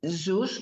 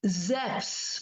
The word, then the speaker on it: Zeus: names in nent Greek we say Zeus is zeep not Zeus z e u s the the EU U is is called f not U or a I don't know